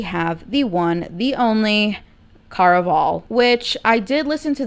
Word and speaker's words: Caraval: the one, the only Caraval, which I did listen to the audiobook. It is not pronounced Caraval, it is Caraval, because supposedly it's supposed to be like a Spanish themed book, which I did pick